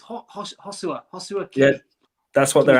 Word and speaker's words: Joshua: Like, come on, they're just it's not even Joshua, is it? It's Hosua.